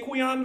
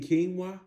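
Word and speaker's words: quinoa: I'll take some but you do know it's pronounced salmon right that's what I said salon you want some chicken and quana tonight some what some chicken and quana you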